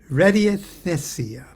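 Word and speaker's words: radiesthesia: Art and Science of radius theothea let me spell that for you r a d i e s t reddiest h-e-s-i-a thessia readyaithia okay beat me up and based upon the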